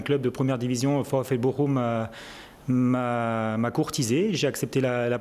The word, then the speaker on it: Bochum: Alors là aussi, Bochum, on prononce ? Bochum.